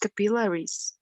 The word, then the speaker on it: capillaries: It is pronounced capillaries, right? Capillaries. Notice in Spanish will be capilares. In English, it's capillaries. Okay, capillaries. You pronounce these two letters louder than the rest of the word. So it's capillaries.